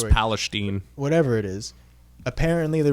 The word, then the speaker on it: Palestine: like the big It's pronounced news story. Palestine.